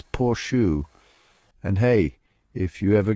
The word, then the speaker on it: Porsche: Now, you might be tempted to pronounce it as Porsche, but hold on a second. The correct way to say it is Porsche. That's right, it's all about that soft shoe sound at the end. Think of it like saying portion, but with a sure instead of a tyon.